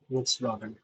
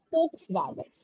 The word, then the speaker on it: Volkswagen: Volkswagen. Yeah, which is wrong. Like இப்போ வி வந்து ஜெர்மன்ல வந்து எஃப்னு சொல்லுவாங்க, விச் மீன்ஸ் ஃபோக்ஸ் வேகன், ஃபோக்ஸ் வேகன்னு சொல்லுவாங்க.